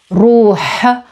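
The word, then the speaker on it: روح: Another option is the word ruh, ruh, with the guttural h at the end, ruh, not ruh, not ruh, it's ruh, and it means soul or spirit, ruh.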